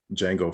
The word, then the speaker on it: Jango: did was i mixed jango fett from uh star wars with uh django unchained because i was like wait they're spelled differently but they're they're pronounced the same the color scheme is